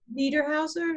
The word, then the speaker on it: Niederhauser: Niederhauser, is that this?